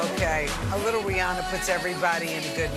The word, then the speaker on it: Rihanna: Then a couple years after that became the How do you pronounce her name? It's actually Rihanna, but people called her Rihanna, so she just went with it.